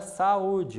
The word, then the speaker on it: saúde: O mesmo ocorre com a palavra saúde. Observe a divisão silábica. Sa-u-de. Três sílabas, sílaba mais forte a penúltima, paroxítona.